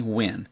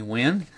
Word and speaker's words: Nguyen: impressed me was Anthony Wynn. Now his name is spelled Nguyen, Anthony Wynn.